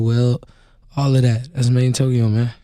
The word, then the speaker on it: MadeInTYO: Hey, man, it's Made in Tokyo, not MadeInTYO, not Tyo, Made in Tokyo, Mr.